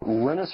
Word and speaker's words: Linus: And that's when Linus Torvalds came along. Linus or Linus? What's exactly your preferred pronunciation?